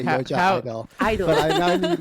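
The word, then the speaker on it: (G)I-DLE: Like, you know, and so not idol, like a object of worship, but I-dle, like there's nothing, you know. Anyway, so it's following that, and the G was always silent in the pronunciation because it was symbolizing that there were more than just a girl group.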